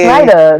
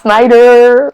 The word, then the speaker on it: Snyda: It's really Snider. Not Snider.